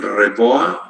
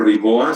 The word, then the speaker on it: REBOA: Esto se llama el REBOA o RIBOA, si ustedes lo pronuncian en inglés.